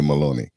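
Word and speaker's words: Giorgia Meloni: an easy one either Georgia Maloney yeah yeah so rhymes with baloney so that's my that's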